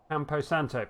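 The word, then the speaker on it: Campo Santo: want to say it right it is empo Santo that's right yes it was just the tip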